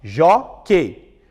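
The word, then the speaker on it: jóquei: Observe a palavra jockey. Eu separo em sílabas, ó. Jockey. Chamo no portão. Jockey. A penúltima é a mais forte, né?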